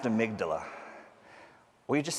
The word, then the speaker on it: amygdala: I remember how to spell it because it's Amy G. Dalla. That's how to spell it. It's pronounced amygdala.